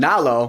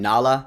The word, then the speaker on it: Nalo: was this God named nalo which is funny every time they say his name I almost think they're saying Nala like Nala from The Lion King no it's nalo with an O so nalo is a